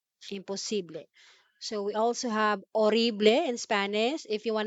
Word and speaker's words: horrible: and tagalog impossible impossible so we also have orible in spanish if you want to say horrible that would be orible so notice letter h in pino pronounced as spanish horible and we have un